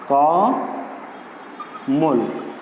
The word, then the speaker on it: কমল: তো কমলের শব্দের সঙ্গে অ আছে, আমাদের উচ্চারণ হওয়ার কথা ছিল এরকম কমল, কিন্তু সেভাবে আমরা উচ্চারণ না করি, আমরা উচ্চারণ করছি কিভাবে? এইভাবে কমল। ওকে, তাহলে যেহেতু মধ্য এর আগে এখানে কয়ের সঙ্গে একটা অ রয়েছে, মধ্য অ এখানে ময়ের সঙ্গে অ রয়েছে, তার আগে একটি অ আছে, তাহলে আমরা সূত্র অনুযায়ী এখানে উচ্চারণ করব কমল, অর্থাৎ মধ্য আটা ও এর মতো উচ্চারিত হবে।